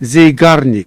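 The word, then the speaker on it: Zeigarnik: While researching stuff for this video, I found something called the uh Zagonic effect, I think is how you say it. Zyenic effect. Zarnic.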